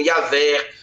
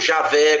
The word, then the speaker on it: Javé: o tetragrama existe corruptela existe a a pronúncia mais prossa como yavé porque Jeová é um corruptela né então existe yavé ou Javé como alguns pronunciam aí os judeus mais